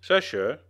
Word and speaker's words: Sisher: So even though her real name is Sisher, it's pronounced basically just like it's spelled, see?